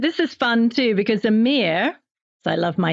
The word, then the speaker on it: Emir: the other great variety Amir everybody you're going to be very happy that m is spelled e m i r exactly said how it is spelled so I'm feeling much